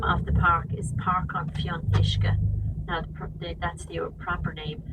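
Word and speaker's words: Páirc an Fhionnuisce: here now the name of the park is parking fee on mishka that prompted that's your property but when are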